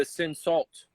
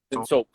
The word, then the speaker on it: Cinsault: As well as it has, which is a common grape, the Cinsault. I'm not pronouncing that correctly. I know that, but Cinsault. Cinsault. That's it. Cinsault.